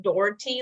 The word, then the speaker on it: Dougherty: so dougherty nutrition um we like to say it's pronounced doherty like adora and tea um but and i